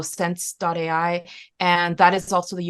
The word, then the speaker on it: sens.ai: It's the company's name is spelled sens.ai. So sense.ai.